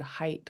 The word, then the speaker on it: height: So for an example, the word height, what's your height? There's like a GH in the middle that we just don't pronounce when we read it, and that's a silent letter.